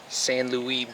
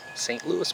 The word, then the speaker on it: St. Louis: Louis or San Louie oh really pronounce it I just know when I watch hockey it's not the San Louie Blues st. Louis Blues that is just a